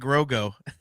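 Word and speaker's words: Grogu: He says we are getting Mando and Grogo.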